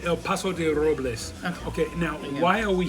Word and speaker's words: El Paso de Robles: I'm not saying it right. Say El Paso de Robles.